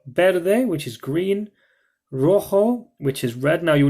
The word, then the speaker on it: Rojo: day which is green Rojo which is red now you'll notice it's actually a J but in Spanish you pronounce it as a like a ha sound so well you see